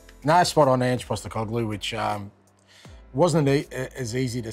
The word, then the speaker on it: Ange Postecoglou: No, spot on, Ange Postecoglou, which wasn't as easy to say when I was coming through high school.